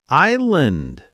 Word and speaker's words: island: Island. Island. The S is silent.